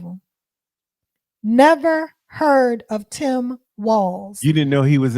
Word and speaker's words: Walz: other thing it's pronounced walls and not not Walts people have been calling him Waltz but there's no T it's just W LZ and it's pronounced walls like to the windows to the walls um um and and